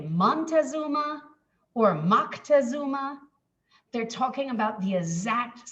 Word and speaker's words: Moctezuma: his own language and how how his name would have been pronounced in aztec is closer to moctezuma and so i the